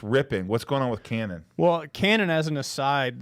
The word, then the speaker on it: Canaan: Yeah, Canaan.